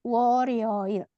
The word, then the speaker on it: 월요일: Ini bacanya 월요일. R-nya seolah pintu ke atas ya.